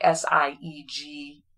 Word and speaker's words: Sigel: is his granddaughter yes um sorry you're saying seagull like s-i-e-g-e-l s-i-g-e-l but it's pronounced as equal okay my brain sorry okay